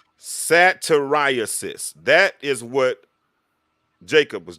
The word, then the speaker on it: satyriasis: time pronounce that word for me again it's pronounced ceterisis sateriasis that is what jacob was dealing with satirists